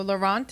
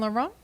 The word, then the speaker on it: Laurent: So Laurent is just like Yves Saint Laurent, spelled the same way.